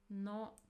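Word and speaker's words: の: No no no. So this is modifying particle it is pronounced as no and it indicates possession that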